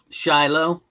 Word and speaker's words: Shiloh: After the battle of and I'm going to pronounce this name, this town name wrong. Uh Sai Lo Sila um during the civil war. What's that? Shiloh.